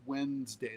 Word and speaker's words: Wednesday: Wednesday. That's how people pronounce it really.